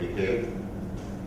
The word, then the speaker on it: Mikhail: In Russian it's a little bit different. It's called Mikhail. Michael is pronounced as Mikhail.